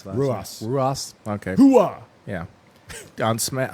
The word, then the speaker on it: Ruas: How do you pronounce that? Ruas.